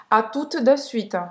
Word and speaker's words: à tout de suite: Não pronunciar esse T. O em português. U em francês é a mesma pronúncia do que a letra U em português. Então, tout, de para fazer o E, você faz a boca do O e fala E.